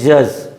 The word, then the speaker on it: judge: If D is followed by GE, D is followed by GE, D has no sound.